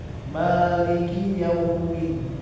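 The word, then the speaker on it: مَالِكِ يَوْمِ الدِّينِ: Maliki yaumiddin Maliki yaumiddin ya mimnya jangan terlalu panjang Maliki tapi dua haas Maliki yaumiddin maiki yaumiddin iyyaka na'budu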